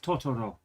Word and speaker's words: Totoro: The consonant and vowel together pieces that make up words are all pronounced the same length, so it's Totoro.